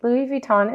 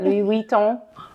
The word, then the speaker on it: Louis Vuitton: Vuitton it was but I say it like a Texan how do you say it Louis Vuitton is Right Louis Vuitton if you're French I think that they're all acceptable and then you left